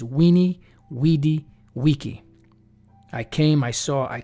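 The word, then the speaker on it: veni, vidi, vici: back into the Latin the letter V was not pronounced v as we pronounce it today a lot of people erroneously quote saying that Julius Caesar said Vini vidi vici which means I came I saw I conquered but when you go back to the actual Latin pronunciation is weenie weedy Wiki I came I saw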